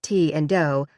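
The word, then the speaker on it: Ti and Do: The most famous were the Two, Bo and Peep, and T and Doe, pronounced T and Doe like the notes on a scale.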